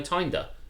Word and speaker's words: Tinder: tinder and i'm like no tinder because it rhymes with grinder and they'll be like